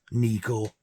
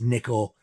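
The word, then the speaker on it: Nicko: live in another country his name is not Nico it's Nicol listen to him he pronounces it Nicol it's sh for Nicholas not Nicholas running three Sanctuary the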